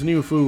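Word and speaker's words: Niu Fu: Um, but yeah, since New Fu rhymes with Lubu, um, at some point we started doing that when we were playing this years ago, and it makes me giggle.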